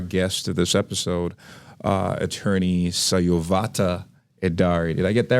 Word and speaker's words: Syovata Edari: So without further ado, I'm going to introduce our guest of this episode, attorney Syovata Edari. Did I get that right? Syovata. She goes by Vata, though. Yes. The T pronounced.